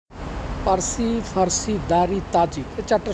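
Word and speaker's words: فارسی: বা ইরান বিচিত হয় এরপরে তারা উচ্চ তারা পি উচ্চারণ করতে পারে না আরবিতে কোন পি নেই সো তারা পিকে পকে উচ্চারণ করে তো ফার্সি হয়ে যায় তাদের কাছে ফারসি এখন আসি যে দাড়ি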